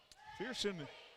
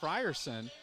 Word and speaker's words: Frierson: South before the game they said it was Frierson then the coach corrected me a three Alexander missed